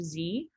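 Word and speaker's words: xe: um is also one is also spelled as x e which i've seen more now but it's pronounced z so it's just replacing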